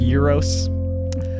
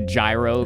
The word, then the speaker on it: gyros: bad you by the way I know it's pronounced euros I just call it a gyro because it's funny and then when i was